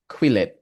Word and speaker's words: Quillette: So, Jay currently is the a Cambodian journalist, political essayist, and cultural critique writing for The Dispatch and Quillette. Is Is Is Is it pronounced right, Quillette?